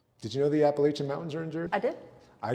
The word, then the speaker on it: Appalachian: Did you know the Appalachian Mountains are in Jersey? I did. I grew up. Did you say it wrong? I grew up in the It's Appalachin.